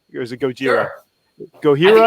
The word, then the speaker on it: Gojira: Gojira? I think it's Gojira. We always pronounced it like with a, from California, so we would do it like the Spanish way.